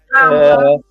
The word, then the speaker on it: Kamala: Say her name right, Kama, with the lie. Kamala is running for president, okay?